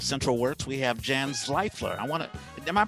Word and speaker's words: Zvaifler: guest, speaking of Central Works, we have Jan Zvaifler. Am I pronouncing your name right? VV, Zvaifler. Zvaifler. Normie's got it. He's one of the few. Jan Zvaifler.